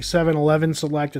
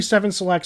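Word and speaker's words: 7-Select: of our water was you kept saying 711 selected it's actually seven selects so therefore we're gonna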